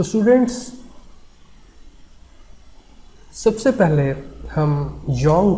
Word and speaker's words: Jung: Analytical psychology of Karl यंग। यहाँ पर Karl जंग लिखा हुआ है, लेकिन जब हम इसको प्रोनाउंस करेंगे तो हम कहेंगे कार्ल यंग।